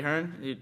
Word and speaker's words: Hearn: quite likes it now I think he's Hearns here in the UK's Hearn yeah all right no